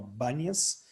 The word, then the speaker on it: Banias: florestal, a reserva florestal Banias, a letra P e Bet do árabe, que não pronuncia o P, então virou traduzido no comum Banias, uma reserva florestal com